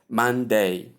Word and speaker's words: Monday: So you combine the two sounds or these two different syllables in pronunciation and you get Monday, Monday, Monday.